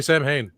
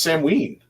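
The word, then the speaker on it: Samhain: do you know it don't say sam hay it's not I know it's not Sam ha it's Sam ween well there's three pronunciations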